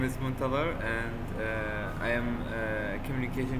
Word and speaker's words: Muntadher: feel good so my name my name is montalvar and i am a communication engineering graduate i